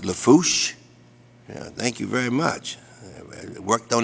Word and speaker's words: Lafourche: the parish president and of course for uh pronounce Lafourche yeah thank you very much I've worked on